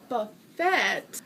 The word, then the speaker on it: buffet: And then we went to a Chinese buffet. Yes, I know you don't pronounce the T, but that's habit.